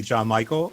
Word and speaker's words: Gian Michael: my best and first please call me john michael uh it's it's easier to pronounce than it is to spell uh but i a